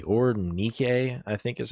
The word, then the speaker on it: Nike: All right, we now have Nike, or Nike, I think is how you're technically supposed to pronounce it, but who cares?